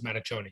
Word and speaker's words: Mattachioni: matter tony is fine i think my father says matatoni so it's uh as